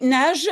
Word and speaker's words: nages: Oui, donc ici, je prononce J, hein, nage. Le G est prononcé comme J parce qu'il est avant un E, pardon.